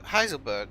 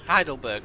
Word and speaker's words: Heidelberg: to hide uh uh heiselberg heiselberg yeah i think i'm saying it right heiselberg city of the uh heidelberg not heisel heidelberg city of the